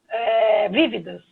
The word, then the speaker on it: vívidas: tempo também são pessoas vívidas, né? Se você colocar o acento na primeira sílaba, são pessoas vívidas também, que é a proposta da Mais Vívida.